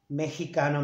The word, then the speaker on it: Mexicano: Remember that this X, we pronounce it like the J. Mexicano, Mexicano.